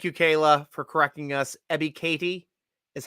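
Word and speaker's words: Ebiketie: on that thank you kayla for correcting us ebby katie is how it's pronounced i appreciate the phonetic help i i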